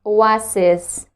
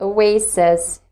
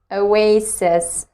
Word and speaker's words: oasis: it comes to second word i used to pronounce it like oasis but later i've discovered that it should be pronounced like oasis oasis so that's it for today if you've learned